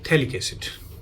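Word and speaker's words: phthalic acid: तो उसे कहते हैं थैलिक एसिड। ये बीच वाले स्पेलिंग PHTHALIC, शायद PH साइलेंट हो तो तभी इसको थैलिक एसिड कहते हैं।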